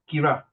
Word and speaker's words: Kiara: Did I pronounce your name correctly? I cannot Is it- hear her properly. How do I pronounce? Kira. Kira. Kira, I pronounce correct, Kira. I like to pronounce Kira, sorry. Kira.